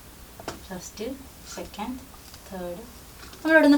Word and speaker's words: た: Reading താ എന്നാണ് കേട്ടോ. പക്ഷെ നമ്മൾ റോമാജിയിൽ എവിടെ കണ്ടാലും അത് ടി എ എന്ന്, ടാ എന്നാണ് നമ്മൾ വായിക്കുക. മലയാളത്തിൽ വായിക്കുമ്പോൾ ടി എ അല്ലേ. പക്ഷെ താ എന്നാണ് ഇവിടെ.